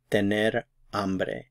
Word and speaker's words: hambre: to be hungry is amre amre notice the H is silent amre amre you'll need